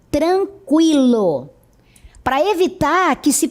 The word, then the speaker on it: tranquilo: 50, linguística, consequência, frequência, tranquilo. Note que a pronúncia continua sendo a mesma, com o U.